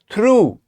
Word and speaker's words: through: This is through. And the final sound that we made here is oo, double O, right? If it was single O, we would say O, but here we have double O, so you have to extend it and lengthen it.